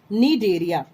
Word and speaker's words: Cnidaria: C is silent here. Cnidaria.